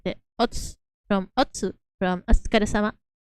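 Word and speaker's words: お疲れ: The us from, or like the ots from otsu, from asukare-sama. That's not sadly pronounced much. It's just ots instead of otsu.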